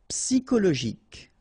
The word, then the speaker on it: psychologique: Okay, remember at the end you've got this K. Okay, so ic, and then Y is pronounced like I. Psy, and then it's an exception here because normally we should pronounce it sho, okay, but then we pronounce it ko.